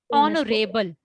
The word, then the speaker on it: honorable: an honest man not honest we speak honest honorable are not hard okay h-o-u-r is spelled r honorable h-o-n-o-u-r-a-b-l-e honorable it's not honorable